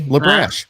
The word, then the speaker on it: LaBrash: Yeah, it's spelled like it sounds. Okay, LaBrash.